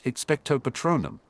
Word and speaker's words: expecto patronum: First of all, the incantation is expecto patronum, with emphasis on the second syllable of each word.